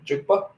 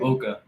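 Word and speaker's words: Egbuka: Jukba. I'm not mistaken. Ibuka.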